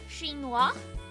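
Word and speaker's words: chinois: I say weird mology thing is because shinoa is how you say Chinese in French and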